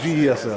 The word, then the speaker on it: GESL: I want to call it GSL, but is it how do you pronounce it? GESL? GESL. Or GSL? I think it's GESL. GESL.